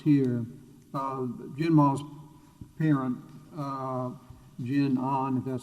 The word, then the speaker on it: GenOn: that brought us here uh genma's parent uh jin ahn that's how you folks pronounce it was providing the credit support once